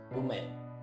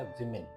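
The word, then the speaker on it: women: तो वो हो जाएगा विमेन। WOMA की जगह E हो जाएगा, प्रोनाउंसिएशन भी चेंज हो जाएगा, वुमेन नहीं होगा, विमेन।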